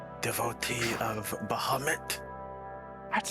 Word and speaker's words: Bahamut: uh i am sitting here devotee of bahamut that's how it's pronounced six and a half foot tall dragon